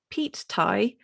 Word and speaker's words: Pete Tie: It's spelled P-E-T-E, as in like Pete, someone called Pete. Pete? Yeah. Yeah, I thought it was going to be like Pete, as in the, the fuel. P-E-A-T.